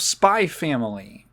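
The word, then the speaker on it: Spy × Family: we watched 60 of spy family spy X family is it like Hunter Hunter is it like Hunter Hunter where the x is silent supposed to say spy family um so uh yeah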